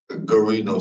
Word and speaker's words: Gino: so how do you say your first name Gino sir okay um in regards to Gino